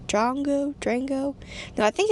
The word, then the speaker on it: Drongo: Now, this episode is called, I think it's called The Call of the Drongo. I hope I'm pronouncing that right.